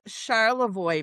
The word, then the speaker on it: Charlevoix: that I'm not going to even try to pronounce cuz I'll butcher it. Okay, that's Charlevoix, Michigan.